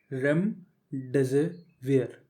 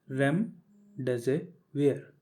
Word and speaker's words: Remdesivir: सबसे पहले तो रेमडेसिवियर को बोलते कैसे हैं, हाउ टू प्रोनाउंस इट, वो देख लीजिए। रेमडेसिवियर, रेमडेसिवियर।